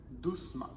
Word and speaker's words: doucement: et on va mettre ma et en ne prononce pas le E doucement l'adjectif masculin silencieux devient silencieuse au féminin silencieux